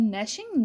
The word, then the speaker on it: gnashing: और नैशिंग, यहाँ पे जी साइलेंट है, ये वर्ड पढ़ा जाता है नैशिंग।